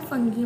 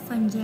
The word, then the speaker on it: fungi: फंजाई ये इसको आप ना फंगी मत बोलना, इसकी करेक्ट प्रोनंसिएशन है फंजाई। आप ये मत सोचना कि मैम ऐसे क्यों बोल रहे हैं कि FUNGI को फंजाई क्यों बोल रहे हैं, इसे हम फंजाई प्रोनाउंस करते हैं, ओके।